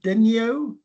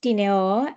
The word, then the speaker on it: Dineo: Do I pronounce it correctly? Denio? It's pronounced Dineo.